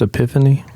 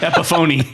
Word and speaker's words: Epiphone: Is it not pronounced Epiphany? It is not a pronounced Epiphany. Epiphony.